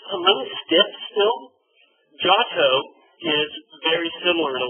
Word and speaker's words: Giotto: Giotto is very similar in a lot of ways. Giotto, Italian pronunciations, an I after a consonant makes it soft, right?